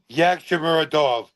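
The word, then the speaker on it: Yagshimuradov: So I think that's pronounced Yakshamorov. Yakshamorov. I got it. Dovletzan. Yakshamorov. Okay. Dovletzan. Yakshamuradov.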